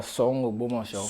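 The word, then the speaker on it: Soun Ogbomoso: I'm not sure I'm getting the pronunciation right. Could you help me there? Yeah, Song Ogbomosho.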